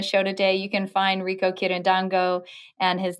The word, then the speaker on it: Rico Quirindongo: being on the show today you can find rico kirin dango and his name is spelled r-i-c-o-q-u-i-r-i-n-d-o-n-g-o so you can find rico online